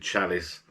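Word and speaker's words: Çalış: got a fixed menu it's called ca callus c-a-l-i-s but i think you pronounce it chalice jump the cap down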